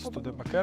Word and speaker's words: Studebaker: This is not yet the day of the Studebaker 'Stood Baker', 'Stud Poker', 'Stuka' - Stoodebahker? - Allegedly you shouldn't pronounce it German but rather more English like How would you say it proper in English?